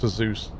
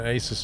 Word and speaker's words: Asus: Technically speaking, Flamingo, technically speaking, it's pronounced Azus. A lot of people say either Asus or Azus, Go around including the myself.